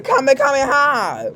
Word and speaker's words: Kamehameha: can't believe people are getting it wrong. It's a Kamehameha. Watch the anime if you want to say it right.